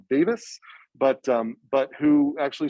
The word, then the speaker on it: Davies: paul uh well i wasn't paul davies but i think paul pronounced it davis but um but who